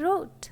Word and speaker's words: wrote: So letter W is silent. Next, right, wrap, wrist, wrinkle, and wrote. Now, if a word begins with WH, then letter W will be silent.